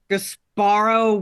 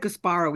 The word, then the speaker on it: Gasparo: Yeah, and I don't like Gasparo either, or Gasparo, probably. Italian 3-syllable words tend to have the emphasis on the first syllable.